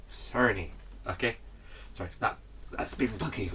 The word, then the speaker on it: Cerny: Okay, that's how it's pronounced, and it's Mark Cerny, not Cerny or Turney or whatever. Cerny.